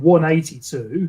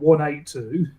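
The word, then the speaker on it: Blink-182: Apparently, you're supposed to pronounce it Blink 182, not 182. Apparently. Oh, like 182. Yeah, 182. Yeah, so 182. As in, the time 82 minutes past 1.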